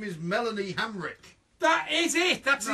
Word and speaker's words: Melanie Hamrick: mother of his last child, we're talking about Milana Hemerak. Incorrect. No! It is Melanie Hamrick. Well, come on! Oh, come on! Milana Hamrick.